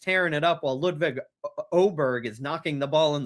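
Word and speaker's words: Åberg: Now, Ludwig Oberg, he has an A to start his name, but it's got an over ring over the A. So then it's pronounced like an O.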